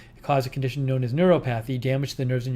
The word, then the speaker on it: neuropathy: interesting did i say is it neuropothy did i pronounce it wrong neuropathy it says neuropathy neuropathy that was from